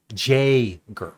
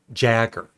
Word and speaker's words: Jagger: yeah that's another one it's Mick Jagger not Mick see I'm even saying